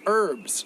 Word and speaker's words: herb: herbs come on man americans are like lazy with some words but make all the words too difficult some words they're adding extra syllables like lay up toe up and some words they're just like forget that letter herb what do you